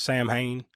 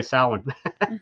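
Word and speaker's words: Samhain: of as a lot of people read it, Sam Hayne, right? Like if you're reading it and don't pronounce it the the Celt the GA way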